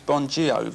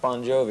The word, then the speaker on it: Bon Jovi: your actual name is bonjour no it's pronounced bon jovi it's just the the phonetics in italian the gi is a j sound right so you are